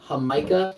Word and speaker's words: jamaica: a Hispanic you may know of the drink hamikah it's spelled Jamaica but it's pronounced H that is